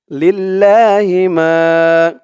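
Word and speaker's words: لِلَّهِ مَا: কোরআন reading পড়তে পারবেন লিল্লাহিমা লাম দিয়ে এই তাসদিদ ওয়ালা লাম ধরবে লাম লাম জের লিল লাম খাড়া জবর লা লিল্লাহ হি লিল্লাহি লা এক আলিফ টান খাড়া জবর লিল্লাহি মা এক আলিফ টান জবরের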